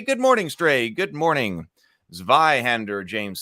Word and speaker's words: Zweihänder: morning stray good morning zweihander James says exciting oh and it's pronounced via hander before you even start